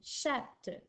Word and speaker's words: chatte: T, et j'ajoute un E, ce qui donne chatte. C-H-A-T-T-E. Ensuite, on a le mot gros au masculin qui s'écrit G-R-O-S, qui est muet au masculin.